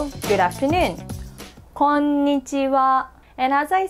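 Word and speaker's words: こんにちは: And when it's a particle, we pronounce this as wa, and it means as for.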